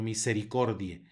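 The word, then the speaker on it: misericordiae: sino Regina más adelante tenemos un diptongo ae que suena como e por lo tanto se pronuncia misericordia no misericordia e sino misericordia luego tenemos una c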